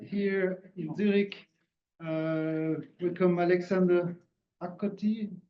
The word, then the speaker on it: Akchoti: Welcome Alexandre Akchoti. Do I pronounce it good? Yeah, it's Akchoti. Thank you. Akchoti.